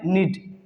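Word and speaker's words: need: नीड। कनीड नहीं पढ़ेंगे, जो कि गलत साउंड हो जाएगा।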